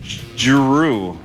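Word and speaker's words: Jrue: The Celtics and Drew Holiday signed a 4-year, $135 million extension.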